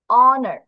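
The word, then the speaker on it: honor: তারপর দেখা যাক অনার, অ, এখানে কিন্তু হ বলতেছি না, এইটার জন্য কিন্তু হ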